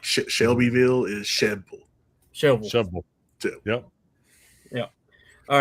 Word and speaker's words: Shelbyville: Shovel.